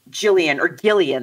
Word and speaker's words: Gillian: And so in the play, unlike in the movie, Gillian, they say, right? It's like a hard G.